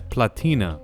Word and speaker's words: platina: Platinum even come from Platinum is a Spanish word but it's pronounced as platina which means little silver when the Spanish got